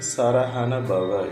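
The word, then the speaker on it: சரஹணபவ: நண ப என்று எழுதிக்கொள்ளவும் நாம் எழுதும்போது சரவணன பவ என்று எழுதுவோம் உச்சரிக்கும் போது சரஹன பவ என்று சொல்ல வேண்டும் அதுதான் அகத்தியர் கூறியுள்ள வழிமுறை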